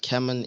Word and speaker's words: Camon: camon and Spark wrench camon for those who don't know what camon is it Rhymes Like Canon the camera correct so this is